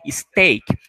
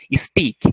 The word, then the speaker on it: steak: de vaca, steak, beef, importante, pronúncia steak. Muitas vezes eu já vi em alguns diálogos trabalhando com os alunos, eles pronunciarem com o som de i, stick.